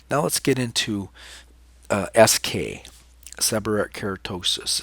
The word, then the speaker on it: seborrheic: cutaneous is skin neoplasm is new growth it's pronounced seborrheic so sub or e^x seborrheic keratosis many different faces it can present many